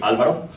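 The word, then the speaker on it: Álvaro: My name is Alvaro, well, it's really Alvaro, if you can pronounce that.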